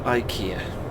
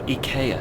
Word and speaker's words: IKEA: Because we're not exiting for IKEA, or IKEA, sorry, to pronounce it correctly.